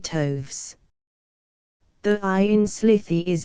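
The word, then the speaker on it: toves: how to pronounce slyy toes the ey in slyy is long as in Wrath and Toes is pronounced so as to rhyme with Groves again the first o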